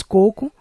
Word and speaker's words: coco: oxítona terminada em o mas coco não é acentuado por ser uma paroxítona terminada em o amé é uma oxít